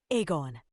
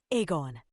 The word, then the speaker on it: Egon: As I'm sure he'll be thankful for me to clarify, it's pronounced Egon. 2420. Egon.